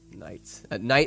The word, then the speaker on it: Knight: Knight is spelled with a K, silent K.